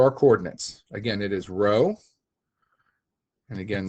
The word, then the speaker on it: rho: Again, it is rho, and again, that is pronounced R-H-O, rho, or R-O-W.